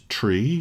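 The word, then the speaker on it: three: The pronunciation of the numbers 3, 5 and 9 sounds a little bit weird. 3 is tree, and 5 is fife, and 9 is niner.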